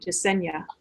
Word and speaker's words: Jasenia: And I'm also feeling Aslam and just Jasenia, right? That's how you pronounce it, Jasenia.